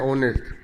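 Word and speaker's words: honest: तो जैसे एक और एग्जांपल लेता हूँ, यहाँ पे ऑनेस्ट, आप ऑनेस्ट लगा रहे हैं तो यहाँ पे एस साइलेंट है, ओ पढ़ रहे हैं ऑनेस्ट, तो यहाँ पर हम क्या लगाएंगे?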